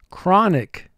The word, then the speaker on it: chronic: Chronic. Chronic. Unfortunately, he has a chronic illness. Chronic. Two syllables. First syllable, cra. Three sounds, k, r, a. Nick. Three sounds, n, I, chronic.